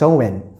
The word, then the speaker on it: Samhain: ago to the ancient Celtic Festival known as Samhain right or it's pronounced Owen these Celtic people in modern-day Ireland Scotland around